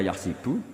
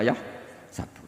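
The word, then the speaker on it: يَحْسَبُ: Karena dalam qiraat sab'ah ada yang baca yahsibu, qiraat kita baca yahsabu. Tapi guru-guru kita kalau ngajar fikih itu bacanya yahsibu. Tapi kalau baca Quran, yahsabu.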